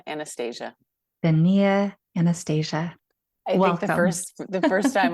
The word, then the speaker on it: Donnia: this name say your name again for us daia Anastasia daia Anastasia first the first time I ever said